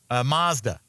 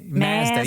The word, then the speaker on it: Mazda: Um Mazda. Mazda. Oh, Mazda. Yeah, because we say taco like ma, you know, we pronounce our A's differently in colonial countries like Canada, Australia, and England.